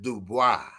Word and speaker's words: Dubois: And cuz since you've been speaking French, you pronounce it Dubois.